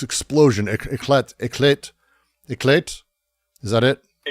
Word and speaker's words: éclat: Éclat. Is that it? Éclatement? It's éclat. Éclat. Like éclater, to burst, to explode.